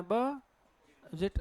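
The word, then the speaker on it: budget: क्या लिखा है अभी, अब इसका उच्चारण होता है छोटी, इसे क्या होता है, बजट, बजट नहीं होता है, बजट, ज में छोटी की मात्रा, बजट।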